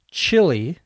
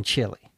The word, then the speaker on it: Chile: eat chil chili in Chile we used to say stuff like that when we were kids same pronunciation three different spellings isn't English wonderful the